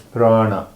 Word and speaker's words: prana: And the word that you spoke is prana. Come on, Craig. So prana, P-R-A-N-A, is a Sanskrit word. Mm-hmm. And it has 2 syllables. Prana. Prana.